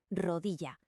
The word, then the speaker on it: rodilla: Atención a la pronunciación de la doble l. En la mayor parte de España suena como la i en yes, rodilla.